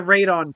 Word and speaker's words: Radon: and the and the radon potion. Radon. Yes, Raon. Like the like the the radioactive isotope. Yes, it's spelled just like that.